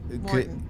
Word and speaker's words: Maurten: Morton.